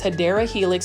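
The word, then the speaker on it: Hedera helix: this is another beautiful hedra Helix I love me some hedra Helix look at how beautiful this hadera Helix that's the correct way to say it $20.98 and you can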